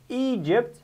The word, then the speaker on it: Egypt: have egypt and egyptian egypt how many syllables egypt two two very good where is the stress e e very good okay egyptian